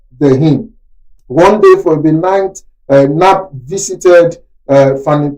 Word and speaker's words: Knapp: I'm calling it Knapp according to American pronunciation.